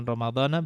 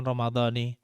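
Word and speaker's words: رمضانَ: Jadi Ramadana karena secara bahasa Arab dia itu mamnu' minas saraf. Mamnu' minas saraf, jadi baca dengan Ramadana bukan Ramadhani atau Ramadanin. Jadi yang benar min syahr Ramadana.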